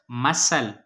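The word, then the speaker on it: muscle: मसल, मसल, मसल में S silent है।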